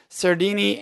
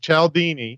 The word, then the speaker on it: Cialdini: One's Influence, The Psychology of Persuasion by Robert Cialdini, and then... it's pronounced Cialdini.